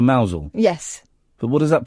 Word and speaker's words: Mousehole: So if they say Mousehole instead of Mousel?